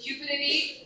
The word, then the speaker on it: Cupidity: So Cupidity, rhyming with stupidity, embodying the god of love, is Cupidity.